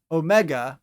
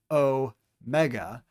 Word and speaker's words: omega: And lastly, omega, or big O, omega, makes a long O sound, as in O.